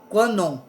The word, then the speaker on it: Kannon: meio de uma divindade masculina chamada kannon bosatsu pronuncia-se kua non e ela é a mestra da hierarquia divina